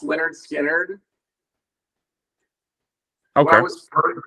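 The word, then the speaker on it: Lynyrd Skynyrd: out of the blue it's pronounced Leonard skinnard okay that was first like first first learning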